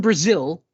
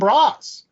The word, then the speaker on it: Braz: The 10-cent synopsis of said book is the life story of this guy named Braz. I think that's how you pronounce it. That's how I pronounced it. Braz, like Brazil.